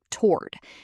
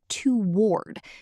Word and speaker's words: toward: In American English, most people pronounce this as one syllable, toward. It's almost like the first O doesn't exist. It sounds like twa at the beginning. toward Some people pronounce it as toward, which is more common in British English.